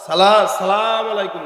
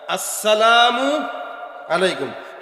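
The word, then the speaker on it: السلام عليكم: এই যে অনেকেরই বোঝা যায় না, সালাম আলাইকুম দেয় না, আসসালামু আলাইকুম। শুরুর হামজা আর আসসালামু এর মিমটা, এই দুইটা উচ্চারণ ঠিক মতো করবেন, তাহলে আসসালামু আলাইকুম, তাহলে সালামের উচ্চারণটা স্পষ্ট হবে।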